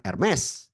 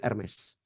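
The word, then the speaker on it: Hermès: tahu Kata e merek Hermes ya itu bacanya bukan herme ya Bapak Ibu Ya ini buat info saja saya pernah kena omel waktu saya di Milan saya sebut kata herme disodorkan makarons kue mereknya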